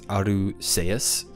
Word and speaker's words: Arceus: And I'm going to say Arceus now because apparently in Japanese it's Aruseus, which is S and not K. It's not Arceus, apparently, in Japanese.